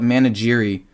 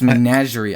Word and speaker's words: menagerie: that they'll see menagerie i always call it manageri but it's menagerie i mispronounce every single time and i get made